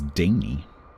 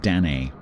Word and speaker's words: Danae: One that a lot of people get wrong is Daney.